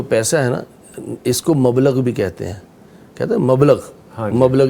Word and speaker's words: مبلغ: مبلغ سکہ رائج الوقت, ہاں جی وہ مبلغ ہے, وہ مبلغ ہے, ٹھیک ہے, اس کا صحیح تلفظ مبلغ ہے.